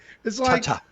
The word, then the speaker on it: tate: It is tate. Ta-ta. Tate mode. It's like Ta-ta.